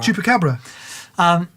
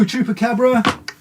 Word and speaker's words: Chupacabra: Chupacabra.